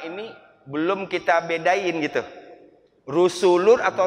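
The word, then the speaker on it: رسل: Rusulun atau rasul kayaknya masih sama aja.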